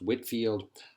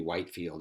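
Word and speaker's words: Whitefield: in the 1700s was George white Fiat or Whitfield his pronounced Whitfield was English he came over to give these speeches although his name appears to be white field is pronounced Woodfield people used to faint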